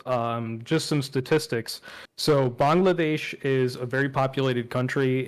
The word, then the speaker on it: Bangladesh: in Bangladesh um uh a lot of people say Bangladesh but that's sort of the American pronunciation I say the Bengali pronunciation which is Bangladesh Bangladesh yeah you got it it's not difficult um but in in